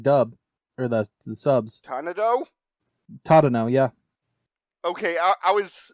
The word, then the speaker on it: Tadano: Tanado, why do I keep mixing up the consonants there?